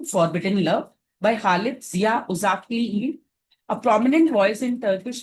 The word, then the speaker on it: Uşaklıgil: One such work is Ashtu Forbidden Love by Khalit Zia UK a prominent voice in Turkish literature. Uh G is silent in Turkish.